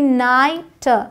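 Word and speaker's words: night: sound नहीं है कह सकते हैं कि ये साइलेंट है साई हाई एन आई जी एस टी नाइट नाइट एल आई जी एस टी लाइट लाइट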